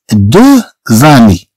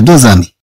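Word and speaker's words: deux amis: عندنا هنا دو زامي. علاش قلنا زامي؟ علاش قلنا زامي؟ هي في الحقيقة دو آمي. هذا غنعرفو من بعد اللي تنشوفو هنا.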